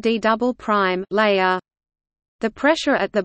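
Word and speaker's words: D″: core mantle boundary is known as the D pronounced D double prime layer the pressure at the bottom of the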